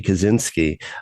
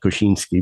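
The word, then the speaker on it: Kosiński: there or As Americans uh know him Jersey Kaczynski uh unfortunately pronouncing his name the same way as they pronounced the name of the Unabomber which is spelled completely differently right key and not koshinski but but they all become Kaczynski in English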